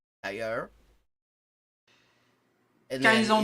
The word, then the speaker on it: d'ailleurs: Like, what she said, if you say d'ailleurs, in France, it's d'ailleurs, and it's a retroflex R. It's all the way in the back of your throat, like French R's generally.